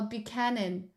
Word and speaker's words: Buchanan: I don't know how to pronounce it, Fox. What's tonan yan? My cannon. Oh, Buchanan.